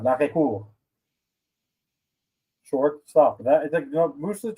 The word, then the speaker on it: arrêt-court: It's actually pronounced l'arrêt-court.